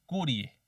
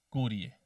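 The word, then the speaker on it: curiae: curia cuando son varias no se dice las curias sino que el plural en latín es Curie Curie entonces las Curie se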